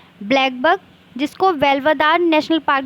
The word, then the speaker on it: Velavadar: Waste India में first state है गुजरात, जिसके नेशनल पार्क्स हैं ब्लैकबक, जिसको वेल्वदार नेशनल पार्क भी बोला जाता है।